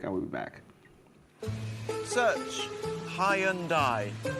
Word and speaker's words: Hyundai: I oh it's Hyundai by the way search Hyundai it's the dawn of a new Hyundai anyways